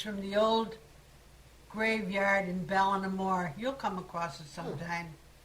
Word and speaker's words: Ballinamore: B-A-L-L-I-N, Ballin. A-M-O-R-E. Oh. Ballinamore, that's how they pronounced it.